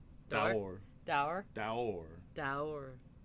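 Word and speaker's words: daor: And no is Daur. Door. Daur. Dour.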